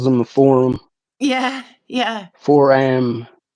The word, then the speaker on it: foram: she just calls them a forum yeah yeah for am it's spelled f o r a m foram Phil